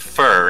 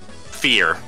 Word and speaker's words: Fir: yeah that there's a there's a word in the english language with that spelling and it's pronounced fur again it's like oh